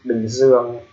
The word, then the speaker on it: Bình Dương: So the name of the country Bình Dương, the reason why we call that in Vietnamese pronunciation because there's a slash on top of the letter I, and there's ear in letter U, and also the same ear in letter O.